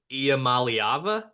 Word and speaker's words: Iamaleava: news came out yesterday I'm gonna try to pronounce the last name Nico IAM malava that was perfect you hit it oh let's